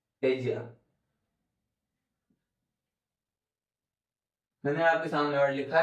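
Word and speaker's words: ella: मतलब जो सी सब्जेक्टिव है उसके लिए स्पिनिश में एज या ई डबल एल ए और डबल एल को स्पिनिश में ज प्रोनाउंस करते हैं।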